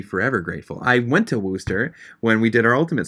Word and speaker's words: Worcester: worcester I'd be forever grateful I went to Wooster when we did our ultimate three times who